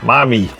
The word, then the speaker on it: MyMe: MyMe. MyMe, not mine, MyMe.